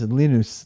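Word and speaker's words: Linus: think is funny is all the people who mispronounced to wald's name it's lenus lenus to rals my wife is home and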